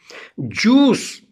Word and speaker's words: juice: Juice, J-U-I-C-E, juice, I is silent.